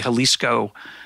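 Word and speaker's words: Xalisco: coast now read and it's spelled with an X X al is Co the Jalisco right not to be just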